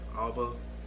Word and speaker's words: Alba: Alba, that's how you say it.